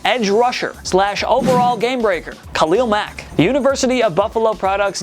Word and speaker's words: Khalil Mack: SL overall game breaker Khalil Mack the University of Buffalo produ name is pronounced with emphasis on the first syllable Khalil Mac not Khalil